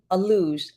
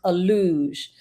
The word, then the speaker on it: Alux: a must do and I believe it's pronounced a luge Angela went we all